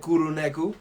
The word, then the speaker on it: Kuro Neko: Kuro is Japanese and Neko is Japanese, and technically, from what I've learned, Japanese is almost phonetically close to Spanish. Okay. So I feel like I'm saying it right, but then some people say I don't.